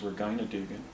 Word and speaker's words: Regina Dugan: Here's Regina, or also known as, actually I think the correct pronunciation is Regina Dugan.